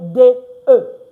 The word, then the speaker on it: de: And don't forget why it's pronounced do, because A, B, C, D, E. E is E. So D, E is de. S, E is se. L, E is le. Why? Because the E has the E sound in French.